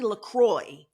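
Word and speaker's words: LaCroix: Laqua. It's really Lacroy.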